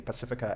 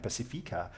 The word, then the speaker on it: Pacifica: picked up on the two different ways in which we pronounce the Pacifica and Pacifica, Tegan is using the Auckland pronunciation. Is it Auckland? And I'm using the Wellington pronunciation.